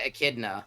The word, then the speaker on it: echidna: Almost pronounced basically with a K because of the CH.